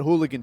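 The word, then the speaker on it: Halligan: a thing called it's it's spelled like higan tool but it's people call it hooligan tool or just hulie tool and the idea here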